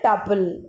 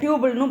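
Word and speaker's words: tuple: ரோ அப்படிங்கிறது வந்து டப்பிள். ரோங்கிறது வந்து டப்பிள். சில பேர் டியூபிள்னு ப்ரொனவுன்ஸ் பண்ணுவாங்க. ஸோ நம்ம வந்து டப்பிள்னு எடுத்துக்கலாம். டப்பிள்.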